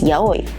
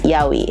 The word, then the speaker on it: yaoi: “O” and “i” together do not make the sound “wi” so the only pronunciation is /ya-oi/.